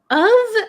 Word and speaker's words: of: is the difference between of and off so o f is pronounced of of so uh like um